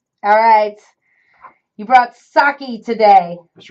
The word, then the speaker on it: sake: to school um so uh sake it's actually pronounced sake and not Saki so tonight when you go to don't you